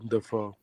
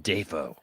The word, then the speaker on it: Dafoe: So basically, we learned that Willem lets you pronounce his name however you want to. Whatever way it sounds nice. It's William Dafoe. William Dafoe.